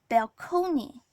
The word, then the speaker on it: balcony: He says, as if contemplate were not bad enough, balcony makes me sick. The word is borrowed in from Italian and it was pronounced balcony.